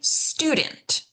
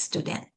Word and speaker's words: student: We're going to stress that first syllable. So it's going to be student. Whereas in Hebrew, for example, it's not. It's student, right? It's different.